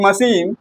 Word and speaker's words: machine: In machine, we are pronouncing c h as s h.